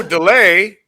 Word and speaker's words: Dullea: And how did he pronounce it here? I'm Keir Dullea. Oh, delay.